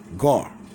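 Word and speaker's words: גר: It's the Hebrew word gar. This how it's pronounced.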